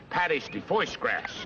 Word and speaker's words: pâté de foie gras: It's called pâté de foie gras. Pâté de foie gras. Oh, yeah, that's how they pronounce that.